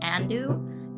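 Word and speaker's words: Andou: Actually, Andu's Twitch is literally just Andu. It is spelled A-N-D-O-U. Andu, and it's a cute little cleft, hair clip.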